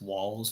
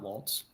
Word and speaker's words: Walz: No, I was just gonna say there's no T in Walz's name. It's Walz, not Waltz. That's all. I keep calling him Waltz.